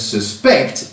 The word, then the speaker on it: suspect: that he did decline this is because suspect in this context is a verb and so distress falls on the second syllable I'll put a list